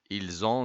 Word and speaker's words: ils ont: ils ont بعمل ربط فبنطق الاس هنا زاد. دي اصلا ما تنطقش اصلا بقول il لكن هنا بقول ils ont divorcé.